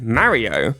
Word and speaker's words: Mario: I didn’t have any issue with how Americans say it, but everyone in the UK says "Marry-oh". Even the adverts Nintendo make over here say it the way I say it!